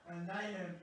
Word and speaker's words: Nayhem: Nayhem. Nayhem? Oh my god, Nayhem, like mayhem with an N.